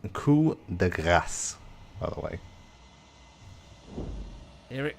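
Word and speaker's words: coup de grâce: It's pronounced coup de grace, by the way.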